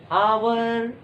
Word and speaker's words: hour: हमने कहा HOUR, आवर। अब बोलो और के पहले क्या लिखेंगे? क्योंकि एच का साउंड क्या हो रहा है? लुप्त हो रहा है, साइलेंट हो रहा है।